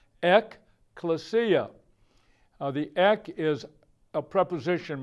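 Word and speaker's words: ἐκκλησία: you would pronounce it, take the Greek letters and put English letters, it would sound like ekklesia.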